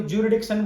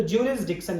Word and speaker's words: jurisdiction: इसको लोग पढ़ते भी गलत हैं, कोई ज्यूरिडिक्शन बोलता है, कोई कुछ बोलता है। एक्चुअल मीनिंग है इसका, यहां से जूरिस बोले पहले इसको, जूरिस फिर डिक्शन, तो ज्यूरिसडिक्शन इसका प्रोनाउंसिएशन एक्चुअल में होगा।